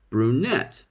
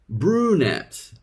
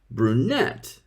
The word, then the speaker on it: brunette: this word please repeat brunette did you stress the first or the second syllable Turks usually stress the first syllable brunette but native English speakers stressed the second syllable brunette please repeat stressing the